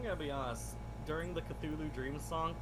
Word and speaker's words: Cthulhu: During the Cthulhu Dream song, he kept saying Cthulhu instead of Cthulhu. and I that did was, like, hear that. Making me Yeah, that was irrationally funny. Yeah. annoyed. Like, Understandable. that's not how it's said.